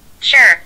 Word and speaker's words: sure: بنرفضها شور، بنرفضها أو طويلة، لا هي طلعت لا مش هيك. sure شور، شايفة لفظها كيف اختلف؟